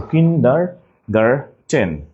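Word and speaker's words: Kindergarten: কিন্ডার garden এখানে শেষে garden not garden so কিন্ডার গারটেন this কিন্ডগার ওকে ডারটেন কিন্তু ডার্টেন না ইনটিউশন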